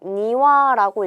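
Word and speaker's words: 庭: 정원은 요 마당 정자를 써서 니와라고 읽어주게 됩니다.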